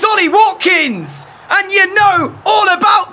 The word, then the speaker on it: Ollie Watkins: said his name wrong I was about to say Wally Hopkins it's Ollie Watkins and you know all